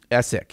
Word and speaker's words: Essick: What is this from Nick Essock or Essick? Essick. Yeah, he even put the enunciation, how to pronounce his last name in parentheses.